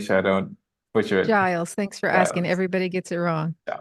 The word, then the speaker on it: Giles: people can enjoy it um how do I pronounce the surname again just to make sure I don't buter it Giles thanks for asking everybody gets it wrong no